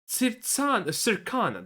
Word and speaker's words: Circana: from Sony, but because Circana, that's how you pronounce it, because Circana says it has, people are just assuming that?